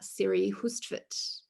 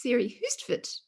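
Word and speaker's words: Siri Hustvedt: am on screen um i have mispronounced it so it's siri houston i now know and i was fortunate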